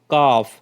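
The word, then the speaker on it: calf: L silent है और सी ए एल एफ में एल जो है वो साइलेंट है और इसको हम किस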